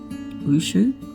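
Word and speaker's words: wuxia: Wushu, that's how you say it.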